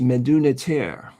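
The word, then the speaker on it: Medu Neter: It's pronounced Meduniter volume one masterpiece.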